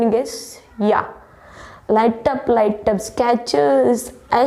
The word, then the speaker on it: Skechers: It's not a scratcho. It's a Skechers, guys.